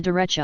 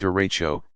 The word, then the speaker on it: derecho: a tornado struck you what is a derecha you pronounced derecho this is large long-lived